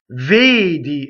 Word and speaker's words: vedi: Vedi. Again, a lot of verbs have accented closed vowels.